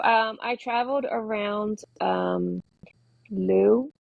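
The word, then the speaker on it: Looe: I traveled around um Lou which is spelled l o o e it's way down on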